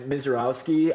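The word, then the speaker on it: Misiorowski: I expect Miserowski. I probably butcher that name if you could pronounce that right, Edward.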